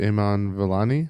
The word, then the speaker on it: Iman Vellani: I thought Iman Vellani, I think Yeah, is how you Iman- pronounce her name.